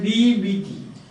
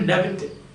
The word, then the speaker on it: debt: Simple, again another simple word, D-E-B-T. How do you pronounce it? You pronounce it as debt, not a debit.